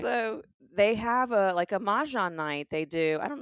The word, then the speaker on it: mahjong: day that we're going to make sure everybody pronounces right, including you. And today's word, mahjong.